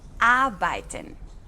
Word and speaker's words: arbeiten: Ojo aquí con la pronunciación, tenemos después de la A la letra R, pero cuando R sigue después de una vocal, casi no la pronunciamos. Escucha otra vez. Arbeiten.